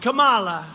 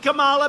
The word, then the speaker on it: Kamala: booker and you had kamala you know if you pronounce her name wrong she goes crazy come on like a comma it's like a comma